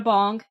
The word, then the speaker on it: Bahng: There's an EP from an artist named Hannah Bong. Not like it's spelled BAHNG.